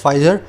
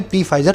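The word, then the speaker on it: Pfizer: फाइजर दुनिया की सबसे बड़ी मेडिकल कंपनी है, इसका पी साइलेंट होता है, इसको फाइजर बोलें, पी फाइजर ना बोले, है ना।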